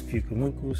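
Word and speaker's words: Pyukumuku: And it's, my son was telling me it's Pukumuku, so I know I didn't try to pronounce it the last time, but he says it's Pukumuku, so there.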